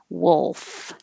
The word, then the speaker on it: wolf: l noise that's it wolf and then you keep your tongue in the l position as you close and make your teeth touch your bottom lip for the f wolf wolf curriculum it can be